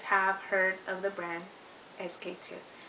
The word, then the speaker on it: SK-II: so so SQ - some people say skier i don't know but it's pronounced sk - it's super super